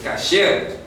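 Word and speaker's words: כשר: Como hay mucha gente que dice kosher, no es kosher, kasher. Kasher es lo correcto.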